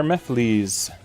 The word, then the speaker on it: Mephiles: Let's bring our Mephiles reference in.